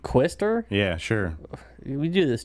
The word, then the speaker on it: Quister: I'm pretty sure it's Quister. Because Matt likes to put words that I can't pronounce on here. No, that's literally the band name. I know, Quister.